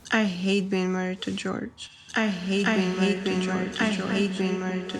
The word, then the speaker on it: Jorge: George's real name is Andrew, but goes by George, but spells it Jorge, which is actually pronounced Jorge, but he pronounces it George.